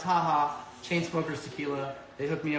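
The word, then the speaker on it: JAJA: pronounce that Ryan haha this haha J it's not judge' its haha chainsmokers tequila they hooked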